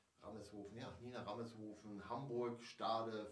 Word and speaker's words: Rameshoven: Lang genug philosophiert, also es war eine Hommage, ja, Hommage an Nina Rammershofen, okay, das wird hier ausgesprochen, Rammershofen, ja, Nina Rammershofen, Hamburg, Stade, Filmproduktion, Nordfriesland.